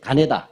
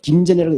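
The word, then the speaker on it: 金田: 예, 노란색 가네다. 네. 김전이라고 읽지 않습니다. 일본 사람들 입장에서 읽어야 되잖아요.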